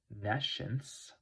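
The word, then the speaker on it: nescience: on the other hand nence is NE science that's how it's spelled nence the lacking of knowledge this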